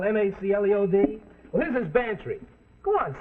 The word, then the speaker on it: Bantry: Bantry come on spell it fancy it sounds like pantry I know gambler Mac